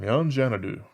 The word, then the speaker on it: Yon Xanadu: from uh from yanjanadu i believe it is china do because uh you know they're chinese and they usually pronounce x's like that apparently not all the time but a lot of the time so that's my best guess uh let's see i